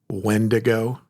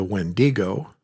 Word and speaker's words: Wendigo: And so I think both are correct, but I think the more correct one or the closest translation to what it originally started as is the Wendigo. Putting the emphasis on that first syllable.